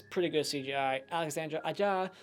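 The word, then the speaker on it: Alexandre Aja: it's pretty good CGI Alexandra a jaw that's how you say his name another great movie from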